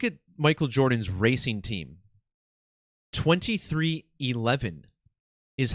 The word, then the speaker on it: 23XI: Michael Jordan's racing team 2311 is how this team is pronounced 23xi XI in Roman numerals 11 and these are the